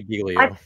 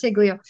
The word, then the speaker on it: Giglio: And I pronounce it Giglio. I've heard other people say I Giglio. say Giglio. I pronounce it Giglio. There's Higlio. Anyway, we always called it Giglio.